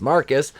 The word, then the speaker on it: Marquise: how she'll handle seeing marquise pronounced marcus and she says feel